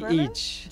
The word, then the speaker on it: ghrelin: Medford, you mentioned about ghrelin. Is it ghrelin? Ghrelin. Yes. Am I pronouncing it correctly?